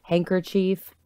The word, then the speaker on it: handkerchief: It's spelled chief. It is 100% spelled chief. But I've never heard anyone say it that way.